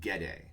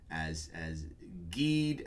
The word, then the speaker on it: Gede: There is, I pronounce it Gede, so Gede, and I've seen it pronounced as Geed, as Jeed, as I guess you could go Jed, or I don't know.